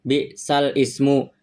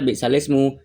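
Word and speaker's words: بئس الاسم: Jadi dalam ee bacaannya langsung balismu ee dalam kalimat kan balsal ismu kan. Tapi karena dibaca naqal, lafaz balsalismu itu cara baca bisalismu.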